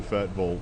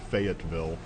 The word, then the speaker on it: Fayetteville: And I grew up in Fayetteville, or as if you're not from here, Fayetteville, I guess would how you say it.